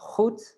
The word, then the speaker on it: goed: G, like goed. That means good.